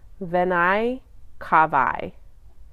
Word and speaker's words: venae cavae: So vena cava is one, singular, and when it's plural, it adds an N to the end, but you pronounce it venae cavae.